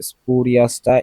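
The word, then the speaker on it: spurious: আছে এপিফাল synonym আরভিয়াস সপিরিয়াস স্পরিয়াসটা important খুব important স্পারিয়াস এটা স্পিরিয়াস না স্পারিয়াস ভুলে গেছি এটা খুব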